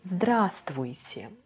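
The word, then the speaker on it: Здравствуйте: very formal greeting in russian it will be drastic just i will do it in print okay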